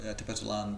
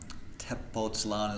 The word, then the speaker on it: Tepoztlán: It being, or Tepoztlán being close to Mexico City, and it's up